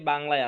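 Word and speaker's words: باء: sound আসে বুঝতে পারছেন এটা উচ্চারণটা তাহলে কি হবে বা কি হবে বা আচ্ছা টানবো টানতে হবে টানতে হবে টানতে হবে বা আলিফ এবং হামজা ছাড়া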